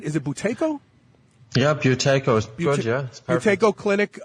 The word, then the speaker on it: Buteyko: mcewen uh he is with the buteyko i'm pronouncing that right is it buteyko yeah buteyko georgia tako clinic uh uh in